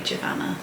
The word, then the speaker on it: Giovanna: giovanna and tom fletcher i think it's giovanna because i'm sure i once saw her on instagram that she said that her name rhymes with savannah so that would be jovanna but anyway the fletchers